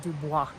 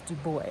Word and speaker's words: Dubois: pinedale to dubois um i thought it was pronounced dubois but it's dubois that's how everybody pronounces it here um and